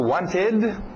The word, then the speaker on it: wanted: Passado, wanted, wanted. Diga aquele ED, wanted, ok? Pronúncia rápida, tira o T, wanted, wanted, wanted.